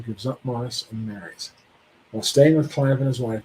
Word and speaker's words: Maurice: regain his place in society C gives up Morris and marries while staying with c and his wife Mor it's called Morris is how it's pronounced discovers romance in the arms of the